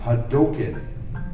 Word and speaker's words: Hadouken: It's like, okay, Capcom hired me, and they told me how it's pronounced. It's Ryu and Hadouken.